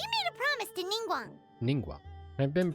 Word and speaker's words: Ningguang: Ningguang. I've been pronouncing it right.